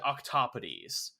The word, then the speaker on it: octopodes: It could be octopuses, or it's pronounced, as far as I understand, octopodes. But it's spelled octopodes.